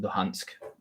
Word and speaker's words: Luhansk: be pulled out by the Donetsk and Lugansk. I pronounce it Luhansk.